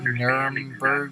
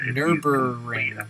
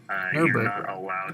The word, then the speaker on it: Nürburgring: So I was I saying Nuremberg? Exactly what, I'm sorry. What happened, there's 2 Germany tracks. How do you pronounce that? Nürburgring. Nürburgring? Nürburgring.